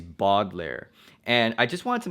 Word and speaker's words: Baudelaire: and I know that the show pronounces it as Baudelaire and in my videos and probably for the next all my videos the way that I'm gonna pronounce it is boggler and I just want